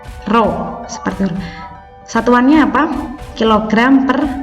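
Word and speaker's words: rho: itu bentuknya untuk hurufnya seperti huruf P Tapi bacanya apa Rodja bacanya roh seperti satuannya apa kg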